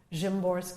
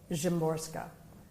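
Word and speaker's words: Szymborska: poets, uh, and one of them is Vizlawa Jimorska.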